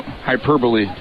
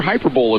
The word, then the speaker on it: hyperbole: And I've been prone to hyperbole from once in a while, or hyperbole if you want to call it that way, Ralph. You know, that's one of mispronunciations.